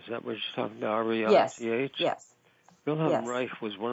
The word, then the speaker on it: Reich: But what another thing you spoke about in your book is, see if I pronounce this right, origami? Origami? Origami. What is that? Wilhelm Reich, is that what you're talking about? R-E-I-C-H?